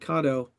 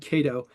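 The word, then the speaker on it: Kato: Number one, Charles at Cato, and this is the first time that I've said it right. I've always said Cato, but we're using their 11109 drives in our little ON18 engines.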